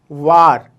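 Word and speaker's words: وار: ठीक है, अगला हर्फ है वार, वाव अलिफ रे, वार, वार।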